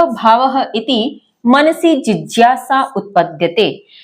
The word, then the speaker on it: जिज्ञासा: चर्चा की थी कि इस वर्ण को ज बोलते हैं, ज्ञ नहीं बोलते। सही उच्चारण इसका ज है।